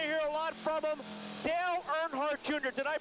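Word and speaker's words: Dale Earnhardt Jr.: you're going to hear a lot from him Dale nhart Jr did I pronounce that right yes you did good job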